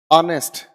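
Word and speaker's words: honest: ऑनेस्ट, हम इसमें H sounded नहीं रखते, इसीलिए इसीलिए हम लोग यहाँ पर आ की साउंड देखते हैं।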